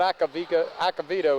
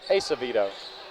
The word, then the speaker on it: Acevedo: It's not Acavito, it's Acevedo. So hopefully, I'm sorry about that.